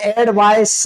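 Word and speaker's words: advice: main verb होती है उच्चारण का अंतर है एक को पढ़ते एड वायस और एक को पढ़ते एडवायज तो एडवा तो वर्ब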